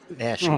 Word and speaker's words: Nashua: Nashua. Uh-huh. Nashua, like Joshua. Yeah, Nashua. Yeah, Nashua. Okay. Joshua. The words. What are we doing? It's 3 syllables, right?